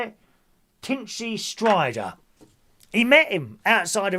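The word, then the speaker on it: Tinchy Stryder: DJ Tinchy Snider. Thank you, Gary. There's my nephew Gary there. Thank you, DJ. Thank you, Gary. Tin Tin, how do you say it? Tinchy Strider.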